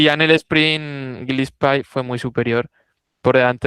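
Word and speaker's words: Gillespie: Es Gilespi. Sí. En en Procycle Stats han añadido la pronunciación de algunas y algunos y algunas ciclistas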